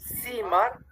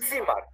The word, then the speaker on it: Zimmer: En lugar de decir una S, la Z se pronuncia como si fuera una T y una S. Entonces no dices Zimmer, sino Zimmer. Como frenadito.